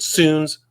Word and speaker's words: Sounes: Again, his his name is Howard Suns. Last name is spelled S O N.